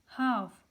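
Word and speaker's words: half: इसी तरह हाफ, यहाँ पे एल साइलेंट है और टॉक, यहाँ पे एल साइलेंट है।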